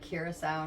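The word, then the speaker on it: Curaçao: People don't know how to say it. It's curacao. Curacao. Yeah, like the country.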